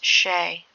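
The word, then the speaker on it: sìth: And in his book, Kirk described the beings as Sith, deriving from the ancient Celtic word pronounced Shay.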